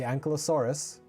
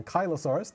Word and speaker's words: Ankylosaurus: It is none other than the Ankylosaurus or Ankylosaurus, depending on your pronunciation. I mix them up, so I do both sometimes.